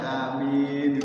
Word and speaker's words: amin: bacaan amin itu yang tepat itu adalah hamzanya itu 2 harokat. Aminnya madzal sukun. Amin. Jangan sampai amin. Salah kalau alifnya nggak panjang itu, hamzanya nggak panjang. Harus panjang 2 harokat.